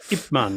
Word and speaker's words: Ip Man: Yeah, Ip Man is how they say it.